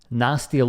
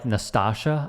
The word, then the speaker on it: Nastia: Nastia Lukin, he called her Nastasha, I think.